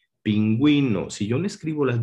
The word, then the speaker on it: pingüino: Por ejemplo, en la sílaba ge, gi, cuando debe sonar la U, cuando quiero que suene la U, debe de ponerse sobre esta una diéresis, es decir, 2 puntos. Por ejemplo, cigüeña, pingüino.